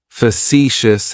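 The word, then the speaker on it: facetious: Facicious has three syllables and the stress is on that second syllable. It's like you're just saying the letter C for C. That first syllable has that schwa, that uh sound.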